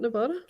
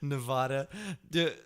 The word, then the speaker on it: Nevada: We can get into that discussions as much as we can get into discussion how to pronounce Nevada. Isn't it? Is it not Nevada? Nevada.